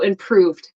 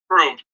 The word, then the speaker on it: improved: the same it's close it's with the D though so improved improved yeah so not improving improved yeah and I actually